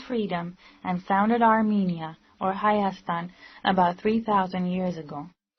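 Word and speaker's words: Հայաստան: economic conditions of armenia in armenian armenia is pronounced hayastan and is as old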